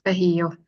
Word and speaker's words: Bahio: It was very comprehensive, and it's Bahio, just to clarify the pronunciation.